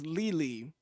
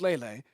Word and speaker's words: Lele: But isn't it Lele, right? Andy and Lele. But if it's Lily, it's not Lily. Might as well just make it Lily. It's Lele.